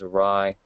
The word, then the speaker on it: awry: of if you have to, if something goes awry. Oh, I pronounced that right.